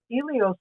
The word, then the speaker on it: Elios: So we pronounce it Elios, which means sun in Greek, and sometimes you see that word spelled with an H, but Elios.